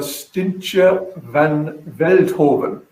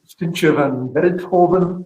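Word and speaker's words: Stientje van Veldhoven: And it's Stintje van Veldhoven. Now, so come on, did I pronounce that anywhere right?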